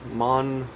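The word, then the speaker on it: マンション: For example, the word mansion in Japanese would be pronounced manshon. Watashi wa manshon ni sundeimasu.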